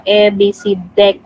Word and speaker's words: EBCDIC: city abc deck uh this is how the way we pronounce it uh abc deck you know so you